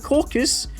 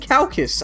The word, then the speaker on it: caucus: bloody It's caucus, not a caucus. Maybe you start saying caucus and cactus. Well, I was saying calcus.